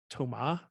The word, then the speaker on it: Thomas: Thomas. The S is silent.